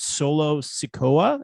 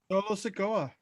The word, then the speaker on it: Solo Sikoa: The debut, is it Solo Sikoa? Is that correct? Yeah, you got it. Solo Sikoa.